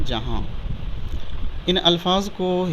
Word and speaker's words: جہاں: اور آخری لفظ ہے جیم زبر جا، ہے الف زبر ہا، نون غنہ ساکن، یہ لفظ ہو جائے گا جہاں۔ ان الفاظ کو ہجے